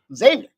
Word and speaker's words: Xavier: says X Xavier no Xavier Xavier the x is like a z x to the Z and I think Xavier